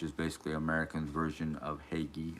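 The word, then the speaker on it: hygge: basically American's version of Hagee, or Hughie, as I learned how to pronounce it. Huga, something like that. Somewhere in that realm.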